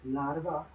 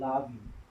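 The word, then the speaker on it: larvae: ऐसे ही लार्वा, इसको लार्वी बोलते हैं। इवन आर इससे यहाँ से गायब भी हो जाता है, लावी बोलते हैं। करेक्ट प्रोनाउंसिएशन इज लावी, बट ठीक है, लार्वी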